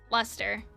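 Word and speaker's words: Leicester: lead to more controversy Lester why does have so many more letters if it's just luster holy hell shut up silent letters silent letters should be illegal Lester Shire old spelling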